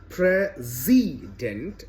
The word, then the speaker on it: president: d e n t the middle syllable is pronounced z z i that is rashtrapati President